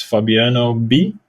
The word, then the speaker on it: Fabiano B: My artist name is Fabiano B, so Fabiano, and then BE, which is like first syllable of my name.